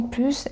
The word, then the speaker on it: plus: Mais le s est prononcé dans les comparatives avec un verve ou avec un nom et dans les connecteurs d'addition comme en plus et de plus.